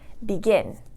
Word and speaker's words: begin: For example, begin. Begin has 2 syllables, begin, and it's a verb, so the stress is going to go on the last syllable.